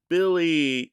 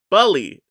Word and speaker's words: Bully: So we had Billy, or yeah, did I say it? No, Bully. It's Bully, right? I don't always say it wrong. I say Billy is, I think it's Bully.